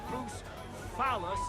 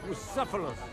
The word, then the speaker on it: Bucephalus: And I'm telling you, we won't get What kind of name is Bruce Phallus anyway? It's pronounced Bucephalus.